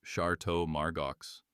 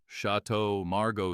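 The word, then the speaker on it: Château Margaux: Wait, isn't that pronounced chart Margos? The entire table went still for a beat too long. Chatau Margo, sir.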